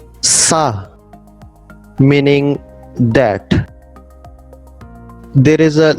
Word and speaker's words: ça: Now the letter C with the cedilla should be pronounced like a letter S.